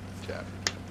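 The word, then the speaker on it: Chaffee: Chaffy. Rhymes with Laffy.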